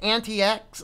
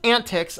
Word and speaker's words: AntiX: have a look at an TX or excuse me is pronounced antics according to the gentleman on the video here and being said this